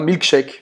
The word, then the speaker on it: milkshake: Então aqui esse é como se esse A aqui ele tivesse um som de E, tá? Milkshake. Milkshake. E aqui você não vai pronunciar o E. Não.